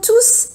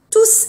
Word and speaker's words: tous: Le S de tous se prononce quand il s'agit d'un pronom indéfini. تلفظ الاس في ضمير الكل tous عندما يتعلق الامر بضمير نكره. Exemple, مثال. J'ai invité mes amis à mon anniversaire. Ils sont tous venus. دعوت اصدقائي الى عيد ميلادي. جاءوا كلهم. Mais s'il s'agit d'un adjectif indéfini, on ne le prononce pas devant les. لكن اذا كان الامر يتعلق